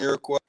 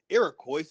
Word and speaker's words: Iroquois: these i'm going to show some words and iroquois y'all and i will be busting the move